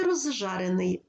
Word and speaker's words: розжарений: тобто ш подовжений звук у слові розжарений розы це префікс префікс закінчується на з з це свистячий за ним іде шиплячий Але у вимові свистячий з уподібнюється до ж шиплячого і ми вимовляємо ж подовжений Рож жарений розжарений ще одна особливість якщо є